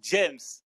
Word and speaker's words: Jeymes: de me dire que ça se prononce james et pas de m voilà il avait raison